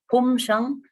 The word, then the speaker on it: Phum-Shang: It's pronounced as Phum-Shang. Shang means a hut.